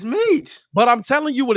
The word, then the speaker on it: Metchie: Like I feel like, bro, his name is can't be Michi, bro. Metchie. Man, check this out. I'm about to get the pronunciation.